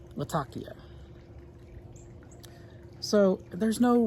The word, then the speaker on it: Latakia: a lot of key I'd say Latakia if I'm talking to someone and they're saying natakia that's what I'd say anyway I may just start saying Latakia because that's what everyone that's how everyone pronounces it here and that component can